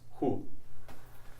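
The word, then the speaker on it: هُ: And this just takes the ha at the end, but it's pronounced with it has dhamma on it, so it's hu.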